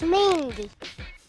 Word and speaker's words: Mingua: game of the week mingua beef jerky is that how you say it I've always heard it pronounced MinGa beef jerky yeah I know how to pronounce this it's mingwa MinGa no it's mingy if you like jerky